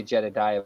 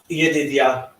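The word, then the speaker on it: Jedidiah: I always say Jedediah, but I know that's not right. Yedidia. Yedidia?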